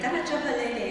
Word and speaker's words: Canajoharie: Canajoharie is the correct way to say Canajoharie.